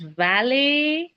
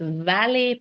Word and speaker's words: valet: Now they call it as valet. ये spelling है wallet. Okay, ये wallet लगे आपका pocket का जो होता है वो नहीं, it's valet parking. T is silent.